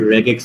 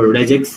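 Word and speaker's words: regex: একটু যদি তোমরা স্টাইল করে বলতে চাও তাহলে রেগেক্স বলে রেগেক্স ওকে অথবা রেজেক্স অনেকে রেজেক্স উচ্চারণ করে রেগেক্স উচ্চারণ করে যাই হোক রেগুলার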